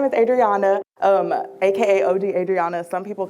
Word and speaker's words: Adriana: My name is Adriana, aka OG Adriana.